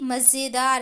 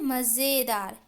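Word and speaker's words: मज़ेदार: क्या है कि यह मजेदार है क्या है मजेदार अगर हम लोग इसको बिना नुक्ता खटपट देंगे तो इसको कैसे पकड़ेंगे मजेदार नहीं बच्चों मजेदार नहीं होता है क्या होता मजेदार ठीक उसी प्रकार इस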